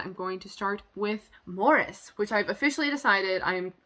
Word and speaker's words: Maurice: maurice but the like british way of saying that name is morris and i'm gonna assume that that's how they say it in the movie and that's how em